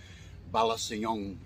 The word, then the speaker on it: Balasiong: with the bali song balasayong is how you pronounce this particular one I figured what I'll